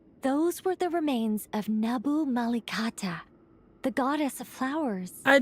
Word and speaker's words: Nabu Malikata: Those were the remains of Nabu Malikata, the goddess of flowers. I did pronounce her name correctly.